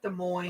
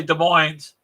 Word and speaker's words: Des Moines: It's Des Moines. I can't say Des Moines because he tells me the S is silent, but they shouldn't spell it that way.